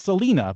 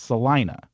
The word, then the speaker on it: Salina: a city in Kansas without the S on the end that you might think is pronounced Selena, but it is not. It is pronounced Salina.